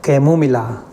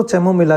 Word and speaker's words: Chamomilla: वो है कैमोमिला। कैमोमिला कैमोमिला कुछ लोग उसको चैमोमिला भी उच्चारण करते हैं, मैं कैमोमिला करता हूँ।